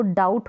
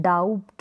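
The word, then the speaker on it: doubt: date पढ़ेंगे यानी 20 silent है बी का उच्चारण नहीं होगा अब इसको डाउट पढ़ते हैं डाउट बी का उच्चारण होता है नहीं होता इसको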